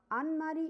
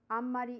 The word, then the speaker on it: あんまり: for more emphasis so this sound is nasal and more stresses over here like though n is written but m is pronounced but when we write